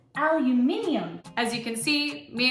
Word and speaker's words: aluminium: There is an I. You're missing a whole letter and a syllable. Aluminium.